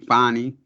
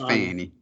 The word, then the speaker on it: Fani: questioned under o uh I don't think her name is pronounced uh how' she say it Fannie I think it's Fanny by the defendant attorneys